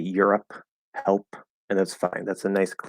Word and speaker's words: Europe: With Europe, so if it's at the end, Europe or help. Now the P in Europe is not in the middle, okay? Because the E at the end is silent.